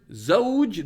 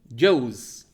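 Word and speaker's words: زوج: someone in some cultures they flip the word zoge they say joe's literally mean not which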